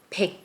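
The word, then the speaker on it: 백: So, hundred in Sino-Korean numbers, or just say numbers, is pick.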